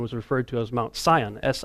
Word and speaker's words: Sion: how Mount Hermon was referred to as Mount Sion si o n and so you got this car as cion but it's pronounced the same way and you've got these